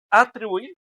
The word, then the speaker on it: atribuir: La a, la tri o la bu es atribuir, atribuir o atribuir. Entonces, ¿cuáles de esas tres son las más fuerte? atribuir, ¿no? Verdad atribuir tampoco atribuir. Andre, la última, o sea, que es una palabra, ¿qué?